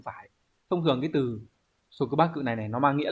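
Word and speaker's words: 束縛: Từ này đọc là số cứ ba cự.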